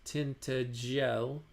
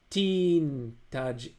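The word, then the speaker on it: Tintagel: breakfast by the way it is of course pronounced tinel CH tin tinel yeah which was a sufficient reason for the P Birds insisting on calling it teaj with a hard G tin tinel he would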